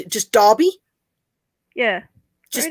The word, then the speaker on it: Derby: The E would be classed as an A. Okay. Derbyshire. So we wouldn't say Derby, we would say Derby. For us in UK, we would pronounce it just Derby.